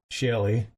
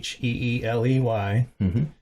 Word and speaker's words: Sheeley: She was a songwriter, and let's say her name is Sharon Shelley. It's Sheeley.